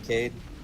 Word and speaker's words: Cade: I'm Cade. Cade. Cade, like CADE.